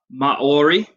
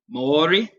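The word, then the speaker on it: Māori: people in New Zealand were thee it is pronounced Mauri Mauri people Maori people and they didn't arrive in New Zealand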